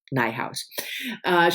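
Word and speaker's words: Nijhuis: nighthouse a beloved Beast this is a Dutch originally Dutch name which I in that would pronounce Nay house but her website and her Instagram page they all are called rhymes with my house so it's Michelle nighthouse he is a science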